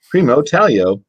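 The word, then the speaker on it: Primo Taglio: but from primo paglio say primo talio oh it tells you how to say it so primo talio and their soft goat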